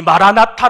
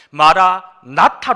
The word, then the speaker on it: 마라나타: 담겨져 있지 않습니까 이 마라나타 라고 하는 단어는 발음 하는 것이 매우 중요합니다 어떻게 발음 하느냐에 따라서 그 의미가 완전히 달라지기 때문이지요 먼저 발음하는 데 있어서 마라 띄우고 나타 라고 발음하면 어떤 뜻이 되냐면 영상으로 나오고 있지만 주님께서